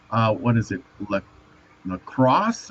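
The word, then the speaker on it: Lascaux: uh what is it La lacrosse I think cave Las no there's La lasow lasow okay I'm glad you know how to pronounce it lasow cave have you ever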